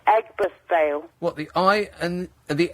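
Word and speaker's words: Aigburth Vale: The Meadowlands close to I I veil. A I Nick, huh? It's pronounced Eggbirth Veil.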